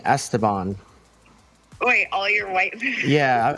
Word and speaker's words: Esteban: Esteban. Well, it depends if you're how you say it. It's Esteban, but all my What do you white mean?